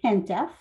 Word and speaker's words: HENTF: I'm going to be referring to the Heritage Emergency National Task Force by its acronym, pronounced HENTEF, because it's quite a mouthful.